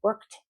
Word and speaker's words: worked: meant to say, I worked in Malaga. So if I don't hear the end, the conjugation, if I don't hear that ED, pronounced like a T, of course, if I